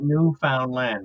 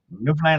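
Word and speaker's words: Newfoundland: tell you right now everybody pronounces it wrong it's not new found land it's Newland labador can't correct nfln Labrador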